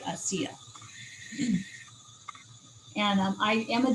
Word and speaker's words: ASEA: a resource so yes asea is spelled a s e a so a c and then they they usually say i see ya and um i am